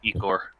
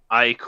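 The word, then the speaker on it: ichor: Just vial of Ecor. Because I looked it up, Cool. and it's technically supposed to be pronounced Icor or something like that.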